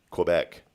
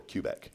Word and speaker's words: Quebec: of being asked okay is it Quebec or Quebec neither it's cubec uh 1769 the Boston